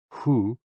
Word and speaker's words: hu: HOO, pronounced like hu, which is associated with the spleen, and XI, pronounced like shi, which connects the whole body.